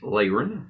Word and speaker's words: Laron: And for some of you guys that know me personally, it's Laren, so don't get it confused. I am still that person. There's just 2 different pronunciations of the name.